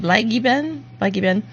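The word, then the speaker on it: Bleigießen: Blaggenben, I think. Oh, hey, that's a really good pronunciation. Blaggenben.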